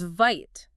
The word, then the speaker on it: Vite: And then there's Vite, pronounced VIT.